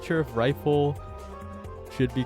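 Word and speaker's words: Ryful: So it's even more confusing because I used to be deep in the Maiden and Spell community, and there's someone named Rifle, but it's spelled R-Y-F-U-L.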